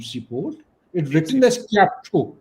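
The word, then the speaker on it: Kyaukphyu: It written as chapu K Y A P H UU but it is pronounced as Chapu.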